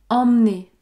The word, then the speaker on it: emmener: par exemple dans emener vous notez que je ne prononce pas le E parce que il y a une seule consonne prononcée devant emmener emmener emmener regardez bien